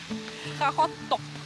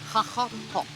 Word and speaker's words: Qaqortoq: So how do you pronounce the name of this town? It's a bit difficult. Qaqortoq. Qaqortoq. Yeah, it's the best I can do. Yeah. Being Danish, not Greenlandic. Qaqortoq.